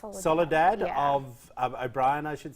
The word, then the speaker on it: Soledad: but then I also went be invited now Salado is the correct pronunciation Soledad of O'Brien I should say yeah I don't